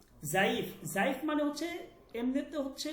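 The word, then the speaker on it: ضعیف: এইখানে আপনি জাইফ বলবেন, জাইফ, জাইফ, এখানে দ বলার দরকার নেই, জাইফ, দয়ীফ বলার দরকার নেই, ঠিক আছে।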